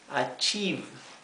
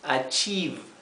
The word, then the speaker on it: achieve: es advertir to achieve achieve fíjense que esta combinación de letras la i con la e se pronuncia I una I larga así que esto es to achieve por eso aquí lo